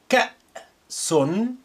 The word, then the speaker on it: كأس: كأس كأس. Note how I pronounce the hamza with sukun as like a glottal stop.